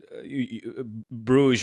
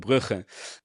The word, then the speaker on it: Bruges: That can also mention that Bruges, or as I like to call them, Brugge. That's correct pronunciation.